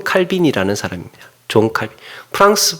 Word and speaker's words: 존 칼빈: 존 칼빈. 프랑스 발음으로는 장 칼뱅, 까르뱅, 켈빈 이렇게 여러 가지 하는데, 그냥 존 칼빈 영어 발음으로 이제 공통화됐어요.